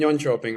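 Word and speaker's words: Jönköping: So David uh born in Yon Chopping, right? Yep. Very well pronounced.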